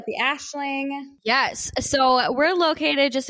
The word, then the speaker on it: Aisling: Everybody gave me so much shit about naming it the Ashling. So Aisling. It's Scottish. I know it's spelled differently than you would think, but that's how you can find us.